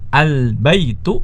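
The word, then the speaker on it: البيت: Ya, salah kalau kita membacanya dengan al-baitun, itu salah. Ya, al-baitun salah. Yang benar adalah al-baitu, ya, al-baitu.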